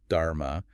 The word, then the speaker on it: dharma: That's his teaching pronounced dharma.